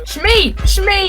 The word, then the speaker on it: Shmi: His mother, I always pronounce it wrong. Shmi!